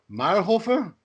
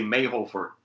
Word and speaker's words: Mayrhofer: right say it right mar hofer hofer yeah i can spell it i'm looking right at it it's m-a-y-r-h-o-f-e-r most of the americans just say mae hofer yeah so when did